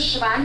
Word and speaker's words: Siobhan: reading it um so my name is siobhan it doesn't sound like it's spelled trust me uh and my home